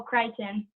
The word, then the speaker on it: Crichton: My favorite book was Jurassic Park by Michael Crichton.